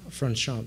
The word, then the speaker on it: Franchomme: I'll butcher his name if I try to pronounce it, but Franchomme, I think is his name. Franchomme, thank you.